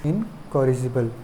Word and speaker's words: incorrigible: एलिजिबल होता है, उसी का GIBLE लगा देंगे तो इनकॉरिजिबल बोल सकते हैं उसको।